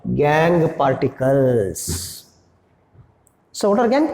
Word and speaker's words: gangue: They are called as gangue particles. Maybe rocky particles, earthy particles, sandy particles, even non-metallic part is also called as gangue part. Gangue, not a Gange. Gangue. So you have to pronounce it gangue.